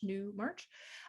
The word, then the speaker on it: Newmarch: uh newmark j-o-n-e-w-m-a-r-c-h just how it sounds month of march new march uh and same with